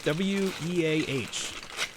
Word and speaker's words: Weah: I got Way or Weah. I don't know. How do you pronounce that? W-E-A-H.